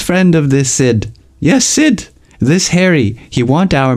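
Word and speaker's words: Sidh: party in New York Sid not s Sid s d h that's how he pronounced it Pepe jerked upos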